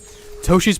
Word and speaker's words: Toshi: Toshi's pronounced like Yoshi.